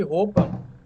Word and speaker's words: Hoppe: essa semana falando sobre roupa o filósofo economista Liberal ele libertário né aquele nome que se escreve hoppe em alemão se fala roupa exatamente não é roupa